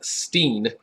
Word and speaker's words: Steen: Now, you'll probably find it pronounced as Steen, S-T-E-E-N, but that's the South African way of calling this grape Chenin Blanc.